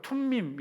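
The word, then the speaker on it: Thummim: 밝은 광채를 의미하고 그리고 둠밈 은 히브리어로 투 미 미 라고 발음이 되는데 복수 형태로 진리 일을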